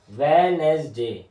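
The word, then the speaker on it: Wednesday: मुझे वेनसडे देखो वेनसडे वेनसडे वेनसडे ठीक है इसमें डी साइलेंट है वेडनेसडे बोलते वेनसडे बोलते वेडनेसडे नहीं बोलते ना हम तोसे वेडनेसडे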